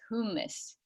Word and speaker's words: humus: And the word humus, that refers to soil and compost, whereas hummus, you get the hummus sandwich from the Mediterranean restaurant. So that's the proper way to say it, is humus.